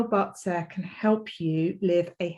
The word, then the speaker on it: Bazi: glad that you're here and you're interested in boxer which is how you pronounce it but sir rather than batsy which a lot of us do when we